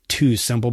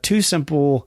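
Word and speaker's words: TuSimple: orders all right so you have heard of two simple before I've spoken about them on the podcast here that is spelled Tu Sim PL uh they are a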